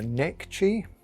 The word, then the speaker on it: Necchi: material of genes um it's called a neck chi i don't know if that's exactly how you spell it you say it n-e-c-c-h-i so i'm saying not sure the person in the store actually knew how to say either so it's a bit of a guess if you're no different